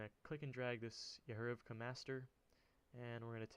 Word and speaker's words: Yehorivka: And I'm also going to go into the Maps folder from this one, and we're going to go to Yehorivka. Thank God I actually pronounced that right.